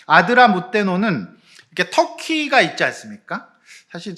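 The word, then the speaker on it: 아드라뭇데노: 지금도 그렇지만 이 발음이 어려운데 아드라무떼노예요. 자, 아드라문데노가 아니고 아드라무떼노는 그 배에, 이제 배는 보통 그 배의 출신 지역을 갖다가 배에다가 짓는 것이 일반적이에요.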